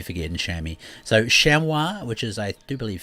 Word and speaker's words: chamois: shami okay so uh chamois is the the proper name for them i'm not french i could be pronouncing it slightly wrong you get the idea and everyone in new zealand calls them shammy so you'll hear me refer to them as shammy um and then we